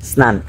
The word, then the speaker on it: স্নান: একজন আমাকে সুন্দরভাবে শিখেছে যে উচ্চারণটা হবে স্নান।